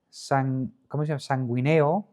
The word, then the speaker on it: sanguíneo: Y luego en Lucas, linaje sanguíneo de David a través de Natán. ¿Sí? Sanguíneo. Es de sangre de... Es una palabra estrújula, que tiene el acento en la tercera...